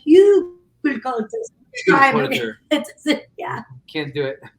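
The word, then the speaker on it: Hügelkultur: We got what got us to Hugel culture. It's a German word. It's a Yeah. German We word. can't even say it. We're Cuban Americans, so we butcher the word as well. It's pronounced Hugel culture.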